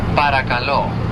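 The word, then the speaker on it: παρακαλώ: We say paracalo.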